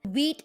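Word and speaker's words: Vite: the next one is wheat the the correct pronunciation is wheat wheat is a really fast Next Generation front-end tooling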